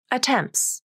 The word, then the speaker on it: attempts: Attempts. There's no final T in attempts.